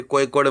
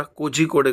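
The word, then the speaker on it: Kozhikode: आता मी ह आणि याच उच्चारण इकडे कोयकोडे म्हणून करतात कोयकोड आण त्याचा वाचूक गेला असत तर कोझी कोडे करत म्हणजे आपण केस वगरे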